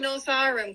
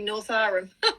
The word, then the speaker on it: Northowram: Look that you're saying Northowram correctly. Lots of people say it wrong. Oh, am I? Good. 4 First Avenue saying we say Northowram.